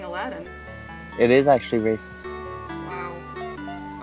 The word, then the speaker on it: Aladdin: with aladdin for sega actually aladine is how it's pronounced really then i guess we're being racist by saying aladdin it is actually racist